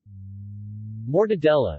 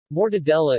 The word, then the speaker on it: mortadella: mortadella Italian pronunciation more de dia is a large Italian